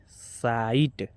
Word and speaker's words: sight: SIGHT साइट, LIGHT लाइट, HIGH हाई, इसको हम पढ़ेंगे।